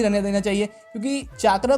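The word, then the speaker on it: chakra: Because तुमने अगर notice किया होगा तो सारिंगान को ये लोग सारिंगन बोल रहे हैं एंड चाकरा जो है उसको चक्र बोल रहे हैं, बट मेरे हिसाब से एटलीस्ट सारिंगान को मतलब सारिंगन नहीं बोलना चाहिए।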